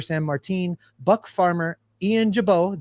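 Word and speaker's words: Gibaut: Martin, Buck Farmer, Ian Jabot, the T is silent, and then, of course, Jeff's favorite pitcher in the world, Hunter Strickland.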